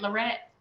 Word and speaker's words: Lorette: Did I say that right, Lorette? Yes. Yep. Like Loretta. Always say like Loretta.